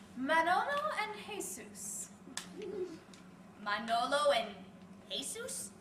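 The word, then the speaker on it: Jesús: and Jesus Manolo and Jesus you don't pronounce the J where is there a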